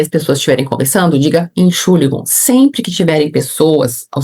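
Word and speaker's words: Entschuldigung: Inxuligon. Então aprende essa palavra. Se você vou, por exemplo, numa padaria, as pessoas estiverem conversando, diga enchuligon.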